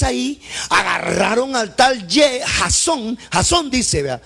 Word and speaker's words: Jasón: Jasón dice, vea, algunos lo pronuncian Jason. No, eso no es problema.